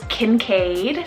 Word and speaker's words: Kincaid: derived from the name abraham next up is kincaid k-i-n-c-a-i-d kincaid i've always thought this name was